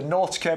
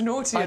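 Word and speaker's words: Knautia: And your free gift today is the Nautica macedonica, which is a scabious that we can now pronounce. You said Nautica. So you're adding an extra syllable into Nautia now.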